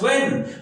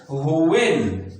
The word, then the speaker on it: when: when नहीं बोलना है, not to speak when, not to pronounce when, but to pronounce when, H से शुरू करना है, यानी कि when, इस तरह हमने बोलना है when, H से when, और ये वाला why,